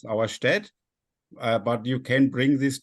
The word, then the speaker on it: Auerstedt: It's Arcolay, or say it like the French, Arcole, maybe, or like the Battle of Auerstadt, which doesn't exist. It's Auerstedt.